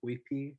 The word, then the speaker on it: Uypi: Well, I say to them, you pronounce it as if you're reading a Spanish word, because it's written by Spanish hands, right?